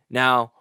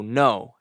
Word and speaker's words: know: just like C is now here's a word that is silent the K is silent so no K n o W